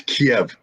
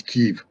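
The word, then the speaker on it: Kyiv: people i heard others is it the kiev or keith well i'm an old school soviet guy it's kiev if you're a ukrainian it's keef if you're seeing in uh announcer it's keef however you pronounce it let's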